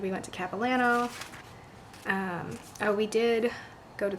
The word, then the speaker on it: Capilano: So, and I always say Capilano, but the locals say Capilano, so I need to say Capilano.